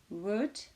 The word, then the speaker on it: would: Attention, ne pas prononcer le L dans should, would et could.